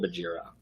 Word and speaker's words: Bagheera: Bagheera. Yeah. Okay, we said it wrong. Bagheera. I said Bagheera.